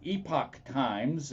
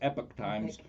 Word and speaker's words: Epoch Times: from the epic times uh epoch times if you um if you that was the original uh pronunciation of it but everybody now says epic times and and i follow